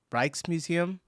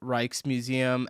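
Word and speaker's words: Rijksmuseum: When you're in Amsterdam, the Reichkes Museum is something Reichkes. Reichkes Museum. Reichkes. Reichkes. So the J is silent.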